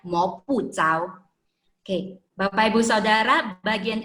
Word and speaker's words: 摸不着: Selanjutnya, 赤不透，摸不着，却看得见。摸不着, di sini kita baca 摸不着 ya, karena memang tulisan cao ini ada juga bisa dibaca dengan ce, tapi konteks di sini dia bacanya 摸不着.